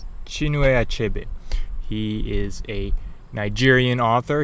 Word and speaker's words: Chinua Achebe: It's a book by Chinua Achebe. I believe that's how it's pronounced. Chinua Achebe.